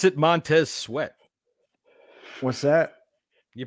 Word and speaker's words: Montez Sweat: You pronounce it Montez Sweat.